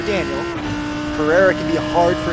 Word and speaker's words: Daniel: In Brazil, we like to say Daniel for Daniel.